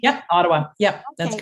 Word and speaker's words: Ottawa: Did I pronounce that correctly? Yep, Ottawa.